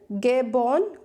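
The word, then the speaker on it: Gabon: Question number 5 इज गेबॉन, गोबोन भी बोल सकते हैं।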